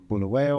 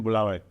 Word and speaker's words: Bulawayo: So cities, Medellin, what, are you from Harare or from Bulawayo or from a village someplace?